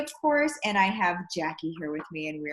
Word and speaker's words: Jacci: course and I have Jackie here with me and we are going to talk Jacky's how we pronounce it right yep yes I got